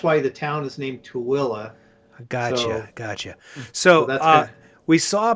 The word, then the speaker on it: Tooele: It's spelled Tooele. Tooele.